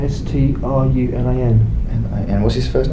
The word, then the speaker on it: Strunin: How do you say his last name? Strunin, S-T-R-U-N-I-N.